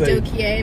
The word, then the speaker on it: Adokiye: That's how someone tried to say my name. And my name is Adokiye.